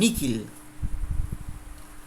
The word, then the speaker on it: nihil: Kalau ketemu huruf H dalam mihi dan nihil menjadi mikil dan nikil.